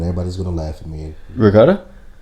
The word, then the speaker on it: ricotta: Ricotta. Say it again. Ricotta. It sounds like you putting a G in it.